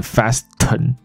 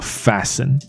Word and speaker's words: fasten: ，那这里不会念成 fasten，它的 t 就不发音了，所以这个字念做 fasten。